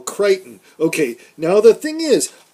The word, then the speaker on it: Crichton: by this show but now Michael Krypton you're saying Michael Crichton okay now the thing